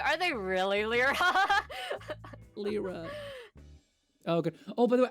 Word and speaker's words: Lyra: it I'm sorry um I think I think we pronounced it Lira because it's more similar to like a Japanese pronunciation of that yeah probably uh but